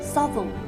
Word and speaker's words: Southwell: in the world say it with me Savile supple it grows on you I promise Savile